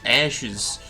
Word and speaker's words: AHSMB: Well, this is supposed to be a training mission for the 5 Ashes. Despite their weird-ass acronym, they're technically pronounced Ash. Yeah, their acronym is like AHSMB. Yeah, but that's pronounced Ash.